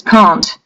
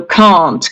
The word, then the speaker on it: can't: very deep sound a it is pronounced here in the throat behind your sternum basically behind this bone in your chest so it's a so can't can't can't normally Russians cannot pron